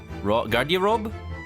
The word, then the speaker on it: Garderobe: Garderobe? Garderobe. Garderobe. There you go, because it kind of sounds like wardrobe.